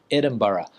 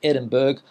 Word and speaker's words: Edinburgh: And another difficult place name for a lot of people in Spain to pronounce is the capital of Scotland, Edinburgh. A lot of people in Spain say Edinburgh or something like that.